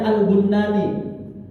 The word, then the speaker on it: Al-Bannani: Dia punya teman ulama juga, namanya Syekh Sabit Al-Bannani. Ada yang membacanya Al-Bunnani.